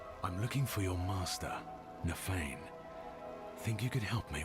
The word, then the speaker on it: Nafain: Only it's spelled Nafain. Like a misspelling of, like, feigning interest.